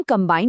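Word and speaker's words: combine: हम कंबाइन में बी की आवाज साफ साफ निकालते हैं, लेकिन कोम्ब में ये एकदम साइलेंट हो जाता है।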